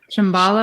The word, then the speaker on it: Shambhala: And there's this concept in Kabbalah, which is I think you pronounce it Shambhala. Is that correct? Shambhala.